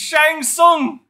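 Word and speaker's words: Shang Tsung: it's literally right there the tear is silent it's Shang song up skull ground skull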